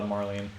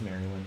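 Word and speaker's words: Marilyn: can't tell with uh Marlene or wait is it Maryland yeah it's Maryland I've been I've been pronouncing your names wrong for years who I guess isn't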